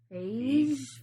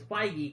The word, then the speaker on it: Feige: I've actually only read it, so I thought it was like Feige. No, it's Feige.